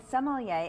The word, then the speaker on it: sommelier: thank you for bringing why did I say it right and what is a sommelier you said it correctly enough correctly a sommelier is a